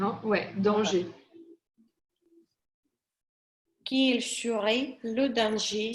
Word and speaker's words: danger: Donc, tu sais, danger, on ne prononce pas le R. Hein. Ouais, danger.